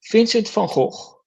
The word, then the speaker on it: Vincent van Gogh: By the way, I spell it like it's spelled in Dutch because Vincent van Gogh was Dutch, so his name is Vincent van Gogh.